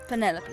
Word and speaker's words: Penelope: delightful penny pointer pleasure is that short for penelope officially yes but i never can be bothered with all four syllables of it penelope sounds a little ostentatious